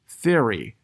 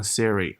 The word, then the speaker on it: theory: the paper, Darwin proposed the theory of natural selection。注意这里面有两个词的发音，theory，嘴巴呢一定要张开，然后把舌头轻轻的放在牙齿之间，theory，那不要读成 theory，它是有区别的。还有后面这个 natural，它的名词叫做 nature，元音是有点不一样的，好吧？